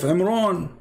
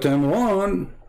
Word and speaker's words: Imran: He claimed that Mary is the daughter of Imran. How you can debate us about this? But Imran, even Muhammad, he called the name wrong. It's Imran, not Imran, but idiot as what you say.